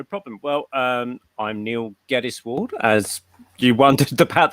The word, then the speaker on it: Geddes: yeah sure no problem well um i'm neil gaddis ward as you wondered about the pronunciation earlier yeah i'm predominantly known as an